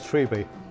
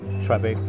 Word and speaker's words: Treby: next episode of cupol can I just say it's triby I know it's I know it's spelled treby but everyone says that everybody triby and I'll see you